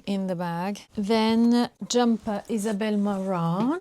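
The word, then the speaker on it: Isabel Marant: in English I'm like Isabelle marant and I even pronounce the T when actually in French you do not pronounce the T at the end so here is the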